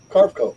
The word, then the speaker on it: Carveco: CARVECO. Carveco Maker. Carco, okay, Maker.